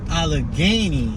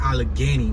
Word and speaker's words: Allegheny: We have Allegheny, you know, Kensington and Allegheny is where the opioid crisis is at, but it's with an E. Here they have it with an A, like Allegheny. We got Allegheny with an E, but we say it like Allegheny too, so it don't matter.